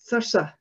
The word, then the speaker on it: Thurso: The interesting thing about Thurso in the north of Scotland is that folk memory has clearly remembered the original pronunciation because people in Thurso call it Thursa, like that, Thursa there.